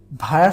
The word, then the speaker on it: via: ভায়া শব্দটি আমরা দেখি VIA, উচ্চারণ হচ্ছে ভায়া, ওকে।